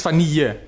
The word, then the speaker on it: vanille: Maar volgens mij is het vanille. Dat ja, tweede. Ja, dubbel L. Ja, dat spreek je als een J uit.